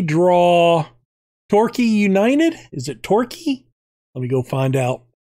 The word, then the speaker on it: Torquay: Is it Torquay? Let me go find out. All right.